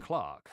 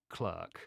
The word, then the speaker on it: Clerk: ended up going with Clark yes Clark which is the sponsor of this video not clerk whilst I often mispronounce things in this case the Cambridge Dictionary agrees with me Clark Clark Clark as